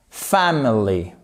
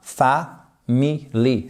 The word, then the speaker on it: family: I have bought many gifts for my family. Pas family, family. Qu'est-ce qui se passe en fait ? voyelle contrairement au français c'est ces trois premières lettres c'est pas famili c'est famil et là vous retrouvez